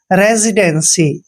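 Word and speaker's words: residency: की मात्रा पढ़ते हैं रेजी आपने रसी नहीं पढ़ना है रेजी पढ़ना है रेजी डी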